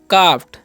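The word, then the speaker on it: calf: हम काम है ना यहां पर भी एल साइलेंट है यानी कि एल रहता है तो एल जो है साइलेंट हो जाता है ए का उच्चारण आ हो जाता है ठीक है और इसे पढ़ेंगे हम हाफ क्या पढ़ेंगे हाफ इसे पढ़ेंगे काफ क्या पढ़ेंगे इसे हम काफ ठीक है काफ अब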